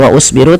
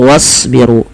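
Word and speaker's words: واصبروا: Animsyu wasbiru ini juga sama jangan dibaca wa usbiru tapi langsung wasbiru dan tebalkan pada lafal huruf shad karena shad termasuk huruf istil yang pangkal lidah kita kita naikkan.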